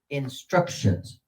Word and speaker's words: instructions: And so they will put syllable 2, because on syllable 2 is the accented syllable in this particular case.